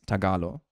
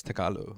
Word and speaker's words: Tagalog: She is Filipino and she also said it's Tagalo or like pronounced like that or something. Tagalo. Yeah. So I was taught that it was pronounced Tagalo.